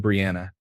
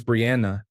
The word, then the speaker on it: Brianna: and pronounced her name Brianna. Her name is Brianna, and he was using what I would consider to be the fancy version of Anna with the ah sound.